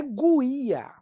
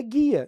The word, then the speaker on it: guia: apareceu em outra questão guia não é guia é guia então o u não se pronuncia Portanto o nosso gabarito